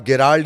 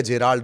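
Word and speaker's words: Gerald: तीसरा, जिसे आप गेराल्ड या जेराल्ड, दो नाम कहते हैं, ये प्रोनाउंसिएशन का मामला है। उसकी स्पेलिंग दरअसल GE से शुरू होती है, तो कोई गेराल्ड बोलता है, कोई जेराल्ड बोलता है।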